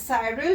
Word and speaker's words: Cyril: can pronounce it as cyril you can pronounce it as cyril both are correct and a small baby